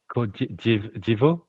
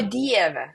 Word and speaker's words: Dieve: Divo? Oh my God, like, how do you say my God? Oh yeah, o Dieve.